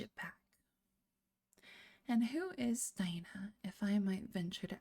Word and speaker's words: Dinah: It's probably pronounced Dinah. I'm going to say Dinah.